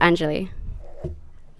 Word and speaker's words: Angeli: uh Anna Yi or aneli please help me with the pronunciation it's okay it's pronounced Angeli yeah hello and good